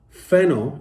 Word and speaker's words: phenol: what does the 40 relate to phenol p-h-e-n-o-l fennel is created through the smoke and burning process